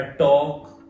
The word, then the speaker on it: talk: अब मैंने अपनी बुक में उसने रूल लिखा कि ALK जब भी आएगा इकट्ठा तो उसको क्या बोलेंगे, ओक की आवाज देगा, इसी प्रकार टॉक वॉक, है ना, तो बच्चे करेक्ट प्रोनाउंस करना सीखते हैं।